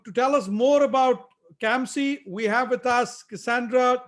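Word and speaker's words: CAMSC: and minority supply council it's called kamsi and to to tell us more about kamsey we have with us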